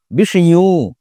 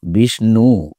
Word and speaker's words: বিষ্ণু: সুতরাং এখানে আমরা কিন্তু কৃষ্ণ, বিষ্ণু বা উষ্ণ বলছি না। আমরা বলছি কৃষ্ণ, বিষ্ণু, উষ্ণ। কেন বলছি? কারণ ওটা প্রকারান্তরে ন ছিল। সেই নই আমরা উচ্চারণ করছি।